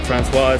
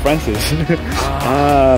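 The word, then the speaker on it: François: Francois. So that's how you pronounce his name. His name is Francois. No, I was calling him Francis.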